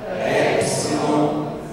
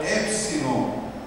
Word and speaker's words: Epsilon: Então, Epsilon é o E na palavra especial, E, normal, Epsilon, E. Quando eu for ler, lerei E.